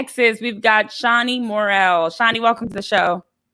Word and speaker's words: Murrell: So they pronounce it Murrell. But I was like, no, that doesn't sound right. I said Murrell, put some pizzazz on it, make it fancy.